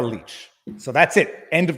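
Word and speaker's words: Lich: get confirmation I suppose Tamara knows how to pronounce her own name it's Tamara leech so that's it end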